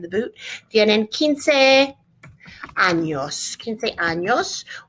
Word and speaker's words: años: 15 años. We're going to put the tilde over the ñ to make it ña sound.